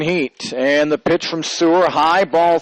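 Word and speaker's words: Suhr: I think it's how you say it, Sewer. S-U-H-R.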